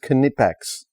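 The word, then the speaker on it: Knipex: seen by nipex but he's actually saying that's pronounced canipex is it really tell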